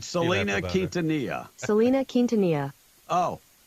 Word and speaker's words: Selena: do say Selena. It's really pronounced Selena. No, she really pronounced it Selena. No, but the proper name is Selena. She's from Texas, and she pronounced it Selena. So however she pronounced it is how it's pronounced.